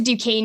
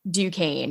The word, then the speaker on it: Duquesne: like into the speech, but it's a French word. So that's why it's spelled that way and it sounds that way.